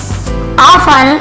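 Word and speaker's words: often: ऑफन, इसे ऑफन पढ़ेंगे, ऑफ्टन नहीं पढ़ेंगे, टी यहाँ पे साइलेंट होता है लेकिन लिखते जरूर है।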